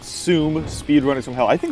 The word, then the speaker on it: SEUM: you a game called sum speedrunners from hell I think that's how you pronounce it sum seum I'm assuming it's pronounced zum because uh that rhymes with doom and as you can